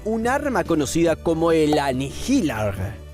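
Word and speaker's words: Annihilaarg: arma conocida como el anilar sí se pronuncia así tal cual bien todo con tal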